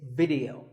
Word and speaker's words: video: important thing is that both the I and the e are pronounced as short if sounds it's not video it's video if you watch a